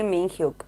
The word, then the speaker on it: Minhyuk: honestly what is me is it me hugh or i'm sorry i always get confused with the names is it minhyuk yes meanwhile am i pronouncing it correctly mean hook yes he got the tattoo